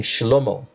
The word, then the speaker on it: Shlomo: Or let me pronounce it right, because the name Solomon is actually pronounced wrongly in the Hebrew. It should be King Shlomo.